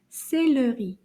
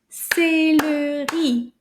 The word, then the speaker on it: céleri: Let's see if we can count how many syllables in this word. Combien de syllabes? We're going to clap them together. Céleri. Oh, let's try that again. Céleri. 3 syllabes.